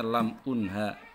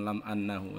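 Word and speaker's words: لم أُنْهَ: terhapus karena dia majzum, maka bacanya lam unha, jangan lam annahu, ini salah cetak.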